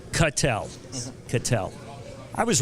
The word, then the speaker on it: Cattel: we had a discussion proper pronunciation of your last name cut L cut L could tell I was